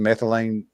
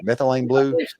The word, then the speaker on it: methylene blue: and they started doing this regiment of ivormectton methylane methyl is that what I am I pronounce pronouncing that right? Methylene blue methylene blue.